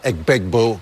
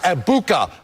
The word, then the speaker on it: Egbuka: of Ohio State, Emeka Egbegbue, going for over 100 yards. Emeka Egbuka. Okay, Gronky boy. Here's how he got it wrong. Emeka Egbegbue. Egbegbue.